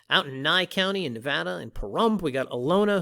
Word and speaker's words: Nevada: more properties in nevada not nevada as some people insist on mispronouncing but rather nevada uh more properties out